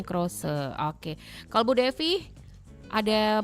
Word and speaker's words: crochet: Jadi C R O C H E T ya Bu ya. Bacanya Crose.